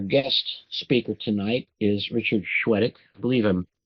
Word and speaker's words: Chwedyk: And our guest speaker tonight is Richard Chwedyk. I believe I'm pronouncing that correctly.